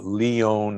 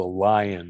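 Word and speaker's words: Lyon: disease study called the leone heart diet l-y-o-n from leon france most people know it as the lion heart diet because we don't pronounce it correctly so the the leon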